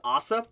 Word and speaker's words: Asa: of ties in with Asa I believe that's actually how you say her name which technically saved a